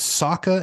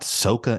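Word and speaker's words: Sokka: names ight like it's it's Saka and Ang not sooka and Ang in the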